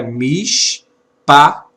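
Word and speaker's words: מִשְׁפָּט: Então a expressão é mishpat.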